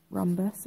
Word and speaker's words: rhombus: start up for you RH has got a silent h rhombus okay you must use the